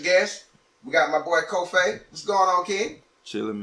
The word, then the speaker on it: Cofe': They say coffee, but it's Cofe. Yeah. But, you know, the easiest way I get it to them is like C-O-F-A-Y. Like Cofe.